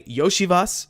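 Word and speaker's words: Iosivas: Uh, Andre Yoshivas, yes, that's how you pronounce his name, is a the He's like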